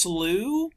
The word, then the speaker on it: slough: The other important vocabulary word is slough. It's pronounced slew.